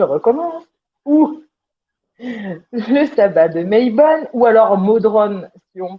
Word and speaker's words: Mabon: Donc on prononce Maybon et pour les Celtes on dit Modron.